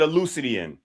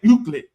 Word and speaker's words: Euclid: Euclid is the man's name. Euclid. I said that. No, you didn't. You said Euclidean. And then I said Euclid.